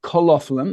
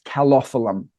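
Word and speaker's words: Calophyllum: No, no, it's not koflam. It's calophylum.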